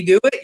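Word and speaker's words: Dewitt: and and then then as a name can he do it and do it is spelled like d-e-w-i-t-t and then he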